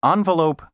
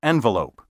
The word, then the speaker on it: envelope: The pronunciations envelope and envoy are pseudo-French. These words are thoroughly English and should be pronounced envoy and envelope.